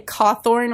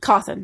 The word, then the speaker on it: Cawthon: I keep wanting to say Cawthorn, which is like reverse Rhode Island way of pronouncing his name. It's Cawthon. Cawthon, sorry.